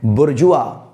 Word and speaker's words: bourgeois: हमें पढ़ना है बुर्जुआ। बुर्जुआ यानी कि BURJUA का साउंड निकालना है और बुर्जुआ का अर्थ